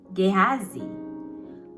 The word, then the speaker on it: Gehazi: to his servant gehazi instead of the English pronunciation I'm gonna stick to the Hebrew pronunciation gehazi call the shunamite so